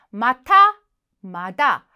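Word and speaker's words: また: 정확하게 확인해 두셔야 되겠죠 자 이번에는 마타마다 발음 조심하셔야 되죠 마타는 다시 또 자 마다는 아직 자 마타 아이 마시타 또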